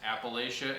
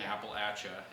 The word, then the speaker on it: Appalachia: pronounce that the correct there is two versions of correct Appalachia if you're from the north and Appalachia if you're south of Harper's fairy okay well Mom's Appalachia